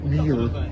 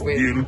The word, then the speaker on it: Niall: playing one game, and they pronounced him Neil. He hates being called Niall, that's all he ever gets. Neil or Nail. Neil Quinn. It's Neil Quinn.